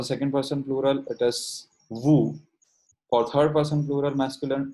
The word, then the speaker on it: vous: We do not pronounce the S of nous and S of vous. Okay, so for the second person plural, it is vous.